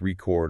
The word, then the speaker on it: record: And two-syllable verbs often stress the second syllable, like record or present.